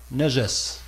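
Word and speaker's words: نجس: Mais c'est juste pour signaler ce mot-là, najas. Parce que ce mot najas... Le voici, ça se prononce Najas, N-A-J-A-S, et ça a été traduit par impureté.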